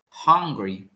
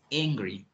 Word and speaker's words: angry: very important here so i heard that you say that you said hungry but the correct pronunciation is angry angry okay angry angry